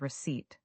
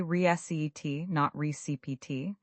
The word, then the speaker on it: receipt: Another word with a silent letter is receipt. The p is silent. We say rese.